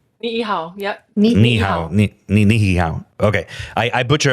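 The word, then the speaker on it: Niʻihau: And again, I don't know how to pronounce this, I don't want to butcher it, but Niihau, right? Niihau, yep.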